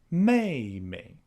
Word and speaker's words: 妹妹: And the same goes for fourth tone characters like ba, di, and mei. The full names are pronounced Baba, Didi, Mei Mei.